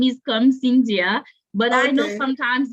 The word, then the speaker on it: Karm-Syndia: So, so the It's whole like, first name is Karm-Syndia, but I know okay, sometimes it's difficult for people to pronounce, so I'm okay with Karm.